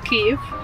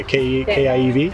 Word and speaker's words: Kyiv: Kyiv. Oh yeah, Kiev. Yeah, K-I-E-V. Most people think it's Kiev, but Yeah. actually K-Y-I-V, it's Ukrainian pronunciation, so Yeah.